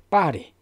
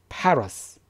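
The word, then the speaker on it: Paris: 좋아하는 문제 좋아하는 도시 빠리 프랑스의 어떤 프랑스의 수도인 빠리 자 빨아도 마찬가지죠 다리에 그러시면 안됩니다 발음은 8월 s 파라스 파로스 다 그런 것입니다 그래서 아이 프람 torx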